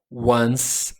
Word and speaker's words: once: Once aqui a pronúncia é once. Tem o número um, certo? One. Coloca um s. Once é a pronúncia, tá?